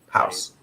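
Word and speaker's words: Haus: what you're talking about yeah house house all right but it's not spelled like h-o-u-s-e is it h-a-u-s but hold on hold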